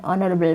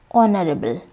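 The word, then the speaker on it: honourable: হি ইজ অ্যান অনারেবল ম্যান ইন our society. অনারেবল, এই যে এইচ, এইচের উচ্চারণ এখানে উচ্চ থাকছে এবং পরবর্তী যে ও, এই ভাওয়েল দিয়েই কিন্তু এই ওয়ার্ডটির উচ্চারণ শুরু হচ্ছে।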